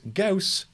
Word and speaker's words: Gauss: that is great advice gauss rhymes with house so this is a